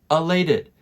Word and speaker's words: elated: Elated. And notice the pronunciation for this one. It's elated. Elated.